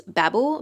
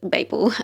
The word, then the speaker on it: Babel: I know a lot of people pronounce this Babel, but I think in Australia we pronounce it Babel. Either pronunciation I'm pretty sure is correct anyway, so it doesn't really matter.